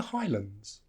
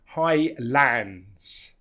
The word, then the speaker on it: Highlands: called The Highlands and notice it's not Highlands because the second part is reduced Highlands England Scotland Iceland so that second syllable is reduced so it's not land it becomes lond so the government have